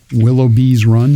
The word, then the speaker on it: Willoughby's Run: Of course, Willoughby's Run. Mm-hmm. Did I say it right? Gotta have the S.